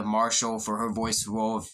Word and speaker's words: Marshall: double thumbs up to vanessa machar marshall sorry i said it wrong at first vanessa marshall for her voice role of shiva and mortal kombat 11.